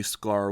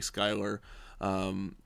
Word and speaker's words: Sklar: or you know sure I got Marty Sklar want wrong once because my editing program put a why and so I called a Marty Schuyler there was a who